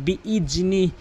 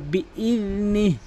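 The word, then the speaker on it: بإذنه: অধিকাংশ লোক বলে বিইজনি। বিইজনি বলা যাবে না, বলতে হবে বিইযনি, এভাবে।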